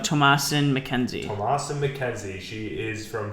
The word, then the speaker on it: Thomasin McKenzie: It's a movie with again, the most famous actress in it would be how do you pronounce her name? Thomasin McKenzie.